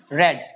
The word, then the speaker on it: read: And the past form of read will be read. The pronunciation remains the same. In case of read, the pronunciation remains the spelling remains the same, but the pronunciation is different. It is read.